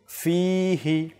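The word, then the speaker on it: فيه: তারপর রয়েছে ফিহি ফিহি এখানে ফা এরপর আমরা যে ফা যখন উচ্চারণ করব সেখানে একটু আলিফ টানবো যে ইয়া মাদ্দা এখানে হয়ে থাকে ফিহি ফিহি আমরা যদি দ্রুত পাঠ করে নেই আল্লাহুম্মা বারিক লানা ফিহি ওয়াজিদনা তাহলে ফিহি ফিহি নয় এখানে দ্রুত পড়া যাবে না ফিহি একটু টান দিয়ে তারপর পাঠ করতে হবে তারপর ওয়াজিদনা জিদনা জিদনা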